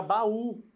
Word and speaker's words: baú: recebe acento eu tenho a palavra baú ó ba u u u não tá fraquinho ali ele tem força é ele a sílaba tônica E se for ele